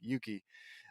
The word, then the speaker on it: Yuki: Lany versus yucky Yuki I don't know why I said it a yucky there's no way it's pronounced yucky Yuki a girl that looks